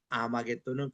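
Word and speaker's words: 아마겟돈: H가 묵음이 됐습니다. 그래서 이게 하르 메기도를 H가 묵금되고 아르 메기또 이거를 붙여서 아마게돈 이거는 이제에 메기또의 산이라는 뜻으로 아마게는 이름이 그렇게 나온 겁니다.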